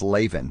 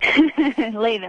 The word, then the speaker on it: Laven: I always thought it was Laven. It's Laven. Laven, like Raven with an L.